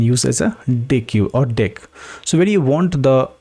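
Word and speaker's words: deque: So it is saying why it is called doubleended q because deck pronounced as a deck means uh doubleended q and you can add and remove both ends.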